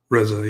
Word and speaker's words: RZA: RZA, yeah. RZA. Okay. I was pretty sure it was RZA, but yeah.